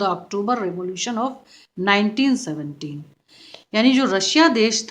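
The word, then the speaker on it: Tsar: जार कहते हैं और स्पेलिंग होता है टी एस ए आर टी जो है यह साइलेंट होता है तो रशियन लैंग्वेज में इनको जार कहा जाता है और इनका नाम था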